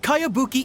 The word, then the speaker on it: Kayabuki: a really strange name who's this cowabunga it's pronounced kayabuki ek that would be me outlander brigade is